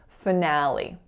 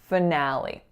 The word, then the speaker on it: finale: the sounds change so listen to my sounds when I say finale finale so the first syllable is reducing to schwa our winner is that ass sound and then the final syllable is a tense e this one means the